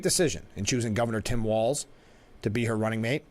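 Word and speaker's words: Walz: what El Franken said it's walls pronounced walls a great choice with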